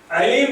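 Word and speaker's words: عليم: Another example, Alim and Alim. Alim with Ain means most knowledgeable, and Alim with Alif, most painful.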